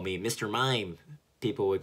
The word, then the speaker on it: Maim: But then I as a kid, I took that so personally, like, no, my name is Mime. It's spelled M-A-I-M, which is, you know, Maim, the verb to maim.